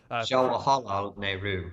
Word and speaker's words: Jawaharlal Nehru: Jawaharlal Nehru is the pronunciation, or just call him Jawahar or Pandit, as he was teacher in Sanskrit, Pandit.